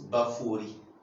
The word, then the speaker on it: Baphoret: la prononciation du nom baforé normalement ça se prononce baphorie donc Bakouri d'accord voilà et ça signifie quoi